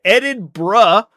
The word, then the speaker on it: Edinburgh: It is Edinburgh. You can't put an extra syllable in there.